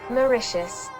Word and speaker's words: Mauritius: Mauritius.